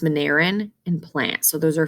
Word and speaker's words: Monera: The kingdom has animals, fungus, protists, it's pronounced Mineran, and plants.